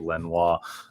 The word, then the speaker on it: Lenoir: My man, Diomedor Lenoir, going to keep with the Parisian pronunciation this season for Lenoir.